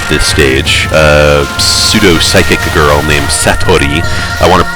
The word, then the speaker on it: Satori: stage, pseudo-psychic girl named Satori, my Gaijin accent wants to pronounce her name Satori, but I know people would kill me if I tried to say it that way.